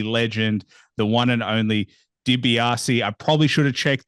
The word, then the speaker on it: Dibiasi: guest New Jersey Legend the one and only diassi I probably should have checked that I am pronouncing your name correctly uh before we start